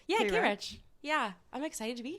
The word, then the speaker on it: Kayrecch: Yeah, Kayrecch.